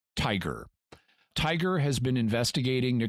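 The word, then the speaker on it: TIGHAR: for historical aircraft recovery TI ghar pronounced tiger tiger' has been investigating the Chamorro for years and they've sent like 10 expeditions there George Putnam jr.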